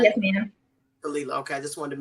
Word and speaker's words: Khalila: And the proper pronunciation is Khalila. Am I saying Khalila, right? yes, ma'am. Khalila.